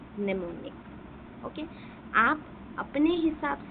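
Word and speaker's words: mnemonic: निमोनिक मतलब यहां पर क्या होता है कि मनेमोनिक निमोनिक ठीक है? एम साइलेंट ये निमोनिक जो होता है इसमें क्या है?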